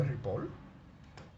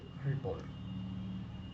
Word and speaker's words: Ripoll: me para qué me Barak repol y Cómo se escribe Ripoll l Isabel me Barack Ripoll bien entonces recuerda para preguntar por una palabra